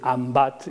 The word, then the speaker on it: L'Embat: O un cartell de la Setmana Santa a l'Alguer, un restaurant que es diu L'Embat, escrit en va, perquè ells pronuncien ambat i ho han escrit així.